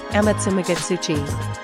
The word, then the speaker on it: Amatsumagatsuchi: Amatsumagatsuchi. Penny correctly pronounced the name.